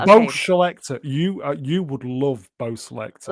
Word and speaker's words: Bo Selecta: Selector is S-E-L-E-C-T-A. Selecta. Okay. Bo Selecta. Okay. Bo Selector.